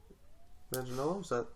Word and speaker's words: Manganiello: I like Joe Manganiello. Manganiello?